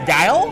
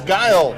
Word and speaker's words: Guiol: Looks like we have found out we pronounce this Guiol as Guile. It's Guile.